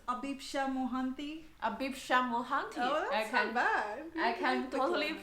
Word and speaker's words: Abhipsha Mohanty: introduce you a bit so the correct pronunciation is abisha mohanty i can totally pronounce